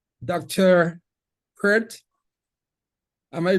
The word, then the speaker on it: Peart: Peart. Am I mispronouncing it or am I getting it right? You're close. Peart.